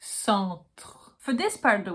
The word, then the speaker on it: centre: Every time there's an E alone at the end of the word, it's only here to tell you that you have to pronounce the letter before, not the E. So you get centre.